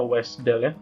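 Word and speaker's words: WSDL: adalah bentuk messagenya kemudian ada wes dele jadi bacanya wes dele ponsel itu adalah kontraknya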